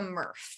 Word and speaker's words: MRF: facility or to a murph and the acronym is mrf it's pronounced smurf but without the s my very first job